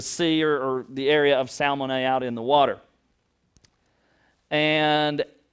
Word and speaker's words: Salmone: Salmon. That's how you pronounce it, was salmon.